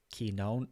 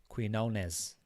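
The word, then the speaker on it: Quiñones: interesting thing about uh key known oh jesus christ we're irish we can't pronounce these mexican names quinones there you go um is that he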